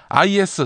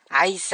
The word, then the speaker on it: IS: IS가 뭐지? 아이스 아닌가? 내가 어제 아이스라고 했잖아. 한번 들어봐. 아이슬도. 어때? 난 IS라고 하지 않고 아이스라고 했지? 아이고, 아이스라. 타임지를 팀에지라고 읽은 것 같은 그런 느낌을 주시네요. IS입니다. IS.